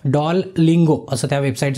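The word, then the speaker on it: Duolingo: website है एक त्या वेबसाइट च नाव है डॉल गंगो अस नाव है बरोबर स्पेलिंग लक्षात ठेवा डी यूओ आय ठीक है डॉल लिंगो अस त्या वेबसाइट से प्रोनंसिएशन ते बरोबर स्पेलिंग लक्षात ठेवा तर ही वेबसाइट तुम्हाला फ्री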